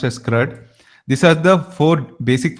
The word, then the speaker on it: CRUD: It is pronounced as CRUD.